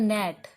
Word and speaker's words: gnat: जैसे मैंने लिख दिया GNAT, इसको बोलते हैं नेट। क्या बोलते हैं इसको? नेट। नेट होता है लड़ाकू विमान। ठीक है, क्या होता है ये? लड़ाकू विमान। तो ये है नेट। यहाँ पर G साइलेंट है ना, तो पहला अक्षर